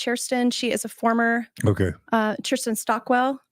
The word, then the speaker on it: Kirsten Stockwell: She is a former Kirsten Stockwell. I hope I'm pronouncing her name right. You did pronounce it right.